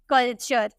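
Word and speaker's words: culture: हैं, हम बोलते हैं कल्चर। ठीक है, कल्चर। यहाँ पे आपको टॉ को ना चौ में प्रोनाउंस करना है।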